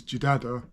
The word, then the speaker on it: Jidada: hear the country name it is said as this is jidada with a DA and another da and that gives you